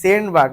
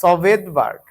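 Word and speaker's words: Svedberg: বিজ্ঞানীর নাম তার নাম হচ্ছে এস ভি ইডি সেন্টবার্গ না সভেদবার্গ তো আসলে এর নাম হচ্ছে ভেদবার্গ কি নাম ভেদবার্গ উচ্চারণ কি ভেদবার্গ তো ভেদবার্গ ইউনিট ইউনিটের টি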